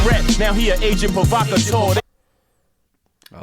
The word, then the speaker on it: provocateur: Used to be a rat, now he an agent provocateur. I like the agent provocateur title. I'm glad I pronounced that correctly.